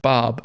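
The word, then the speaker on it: Xaos: For as chaotic as the town of Zaos, pronounced Bob, is, it's no surprise that it's teetering on the edge of cosmic realignment, perilously and joyously close to slipping into limbo.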